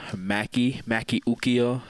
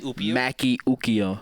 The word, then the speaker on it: Maki Ukio: I am Maki Ukio. That's how you say my name. Say it again. Maki Ukio.